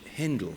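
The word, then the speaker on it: Händel: english composer but by georg friedrich hindle to pronounce his name uh correctly there's a wonderful description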